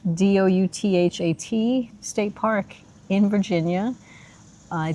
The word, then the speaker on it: Douthat: We are at, it's pronounced Douthat, Douthat State Park in Virginia.